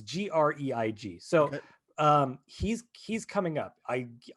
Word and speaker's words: Greig: The cinematographer for this is Greg Fraser, who I could be mispronouncing. Let me see. Grieg. It's Greig.